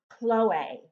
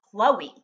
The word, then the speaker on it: Chloe: envy wigs beautiful beautiful Chloe or as we pronounce it in English Chloe um this is a